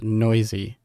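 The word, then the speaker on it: Neuse: brought up failed to noisy that's right i heard all you guys in the comments i said his name wrong i apologize noisy sheldon noisy third baseman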